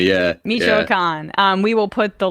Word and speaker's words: Michoacán: You're going to have to pronounce that word for me. Michoacán, yeah. Michoacán.